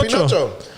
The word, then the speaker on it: Pinocchio: That's how you say it, right? Yeah, Pinocchio. Pinocchio.